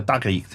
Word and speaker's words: tarikh: And then the last genre, the tarikh.